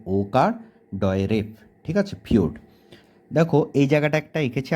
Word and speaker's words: ফিয়োর্ড: পারো এবারে যেটা আছে নয় নাম্বারে সেটা হচ্ছে পিওরড উচ্চারণটা আমি আবারো বলছি পিওরড হয় হস্কার অন্তস্থয় ওকার ডয় রেফ ঠিক আছে পিওরড দেখো এই জায়গাটা একটা একেছি আগে চিত্রটা বলে